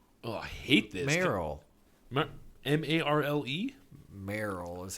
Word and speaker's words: Marle: Had a friend who insisted I was wrong, and the official correct pronunciation was Marlee. But then the one directly above it says the E is silent, and it's Marl. Like Marl.